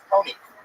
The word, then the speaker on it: Toni: It's Tony. Tony is a tough name for you to pronounce.